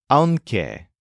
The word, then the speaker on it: aunque: For English speakers, this word is kind of difficult to spell and to pronounce, but it's basically like a combination of the adverb aun and the conjunction que.